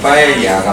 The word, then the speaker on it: paella: PAELLA A가 Y 발음 나기 때문에 파에야가 맞고요.